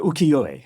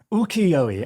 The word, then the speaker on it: ukiyo-e: called, I'm sure you've heard this word before, ukiyo-e. Well pronounced. Thank you very much. It's probably completely wrong. Let me just get that right. Ukiyo-e.